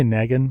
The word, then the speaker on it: Negan: I say Negan because it's spelled like Megan.